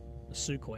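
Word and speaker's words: Sukhoi: Russia again we need to go to suco suco It's pronounced and be like we will Design the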